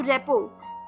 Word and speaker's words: rapport: तो रेपो, RAPPORT, रेपो, RAPPORT, रेपो। जो पीछे RT लगता है स्पेलिंग्स वो इसमें साइलेंट हो जाते हैं।